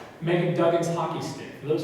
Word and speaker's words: Meghan: also have on display meghan who is pronounced megan duggan's hockey stick for